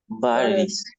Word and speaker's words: batteries: Batteries. Batteries. Right? Batteries. Batteries. In this case, for the American pronunciation, sometimes the letter T makes a sound like an R.